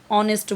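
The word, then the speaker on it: honest: आप देखोगे ऑनेस्ट ऑनेस्ट तो वहां पर एच रहता है लेकिन हम एन लगाते हैं ठीक है तो अब वहां पर क्या दिख रहा है क्योंकि वहां पर एच यहां पर साइलेंट होता है ओ रहता है ठीक है ऑनेस्ट बोलते हैं नेस्ट नहीं बोलते इसलिए यानी कि जहां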